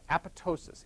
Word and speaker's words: apoptosis: cell through suicide called apoptosis apop Tos is the second P is silent kappa ptosis a pitocin